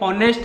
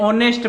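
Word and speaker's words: honest: बोलो साहब बता दूं कि एच साइलेंट रहता है, ये हॉनेस्ट नहीं, इसे ऑनेस्ट पढ़ते हैं।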